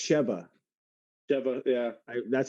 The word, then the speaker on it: Sheva: Oh no, it's Sheva. Shiva. Yeah. That's how they Shiva pronounce it in the game, at is least.